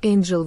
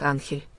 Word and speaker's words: Анхель: Водопад назвали в честь его «первооткрывателя» — фамилия Эйнджел в испанском произношении читается как Анхель.